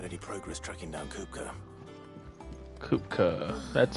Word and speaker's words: Kupka: Kupka, that's how you say his name.